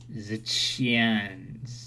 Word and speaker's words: Xian: So now that's the it's pronounced Zichian.